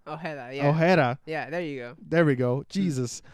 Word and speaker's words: Ojeda: Ojeda. Ojeda, yeah.